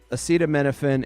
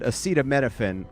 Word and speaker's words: acetaminophen: Um acetaminophen is uh is that it is Tylenol. Okay. I just want to get that part right. So the president said acetto menophen which he can't pronounce so he just kept saying Tylenol is